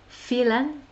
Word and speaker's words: Faolan: faolan f1 au lan mais en fait ça se prononce fait l'âne quelque chose comme ça et ils nichent aussi